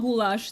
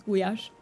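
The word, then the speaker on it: gulyás: You pronounce it guash in Hungarian. So it's not goulash the way uh in English it is like you are absolutely correct about that ritual but in Hungarian it's gash.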